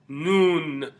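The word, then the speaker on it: ن: it let a meme meme next letter is noon you hear this letter when we say Bismillah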